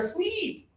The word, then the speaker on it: sleep: High tongue, just a little air, sleep.